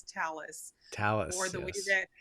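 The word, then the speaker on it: Thales: Well, this is one of many conversations that we've had, but it's talis. Talis or the way that Yeah, the way that the French people pronounce it is uh tales.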